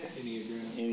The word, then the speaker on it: Enneagram: Enneagram. Thank you. Okay. There's no O. No O. Enneagram.